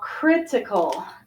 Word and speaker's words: critical: a different stress now critical critical has the first syllable stress okay all right pardon